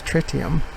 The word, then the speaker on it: tritium: trite trick tiem that's what frontier says the pronunciation of tritium is it's not try t emits tritium so ok tritium will go over twice as